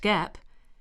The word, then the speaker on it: GAAP: generally accepted accounting principles or gaap pronounced Gap refers to a set